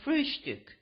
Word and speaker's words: Frühstück: the word breakfast, but always call it Frühstück, with a special emphasis on the first syllable.